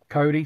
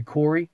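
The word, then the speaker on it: Khoury: her name is Laban Cody, spelled K-H-O-U-R-Y. I'm probably pronouncing it funny, but it could be Corey, K-H-O-U-R-Y.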